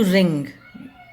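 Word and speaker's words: wring: में नेक्स्ट इ टू रिंग डब्लू यहां पर साइलेंट है टू रिंग टू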